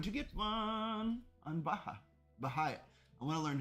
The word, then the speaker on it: Baha'i: Baha'i. I want to learn how to say it correctly though. I can't see how it's spelled. Oh, Baha'i.